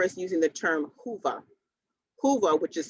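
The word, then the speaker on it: Whova: and you'll hear us using the term hoover hoova which is spelled w-h-o-v-a is the uh virtual fare platform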